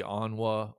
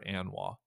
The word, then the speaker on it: ANWA: I've never heard officially whether it's supposed to be anwa or Ana because I think both are perfectly acceptable pronunciations I think I'm gonna